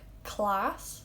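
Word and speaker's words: cleas: Prank, class. Pronounced like the English word, C-L-A-S-S.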